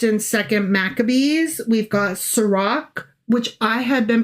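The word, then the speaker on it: Sirach: We've got Sarak, which I had been pronouncing Srirach because it's with ch. Sure. Um, but it apparently is a hard C or a K, if you will.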